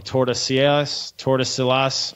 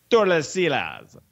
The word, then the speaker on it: Tordesillas: Yeah, but it was the Treaty of, I always say this wrong, Tordesillas.